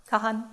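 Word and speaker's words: Kahane: a construction of um I'm going to say kahain anyone who knows the pronunciation better I would love a correction at this point Kahan thank you um it his location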